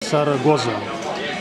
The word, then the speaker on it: Zaragoza: Сарагоза. Сарагоза. У них Зен читается как S. Сарагоза.